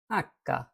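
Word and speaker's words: acca: হলো আইসক্রিম এরপরে আছে আক্কা আমরা এটা জানি এইচ নামে কিন্তু ইতালিতে এটা বলে আক্কা তবে এইযে আক্কা আক্কার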